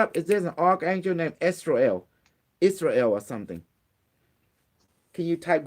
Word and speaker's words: Azrael: Okay, how do you spell it? A Z R A. A E L. Okay, what does he say? Azrael.